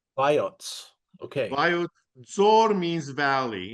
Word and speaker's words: Vayots: So here's and how do I pronounce the place? Voyat Vayots, Vayots.